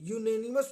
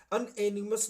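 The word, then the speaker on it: unanimous: ए यूनेनिमस decision, यूनेनिमस means होता है पक्षपात रहित, इसका प्रोनाउंसिएशन जो है अनएनिमस नहीं होता है, यूनेनिमस होता है, तो या से शुरू होती है इसकी आवाज।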